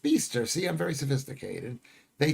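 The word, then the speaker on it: Bicester: It's pronounced Beaster.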